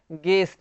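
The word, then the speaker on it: guest: गेस्ट, यहाँ पे भी यू जो है साइलेंट है ना, गेस्ट मतलब मेहमान।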